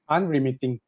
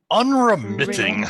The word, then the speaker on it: unremitting: one two three go unremitting am i right okay okay only three persons can we all do it together one two three go unremitting i like it the syllable is stressed on the third the stresses on the